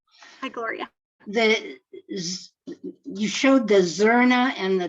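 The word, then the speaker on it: zurna: You showed the Zorna and the dole. Is that how you pronounce it?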